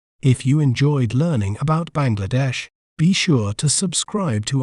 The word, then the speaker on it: Bangladesh: do we say its name correctly we may pronounce it as Bangladesh Bangladesh ban GLA Desh Bangladesh B Bangladesh is rich